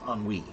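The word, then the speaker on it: ennui: Yeah, but it's a weird word because again, E N UI, no one could guess how that's spelled by listening to it. You know, if you if you hear it, it you would think it's spelled O N E on Wii, but no.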